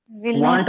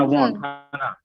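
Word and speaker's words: won't: ये वॉन्ट है, वॉन्ट ऐसे। वांट मत पढ़ना, वॉन्ट।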